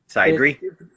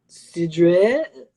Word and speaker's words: Cidre: Cidery? Cidre. Say it with a French voice. Oh, would you like some cidre?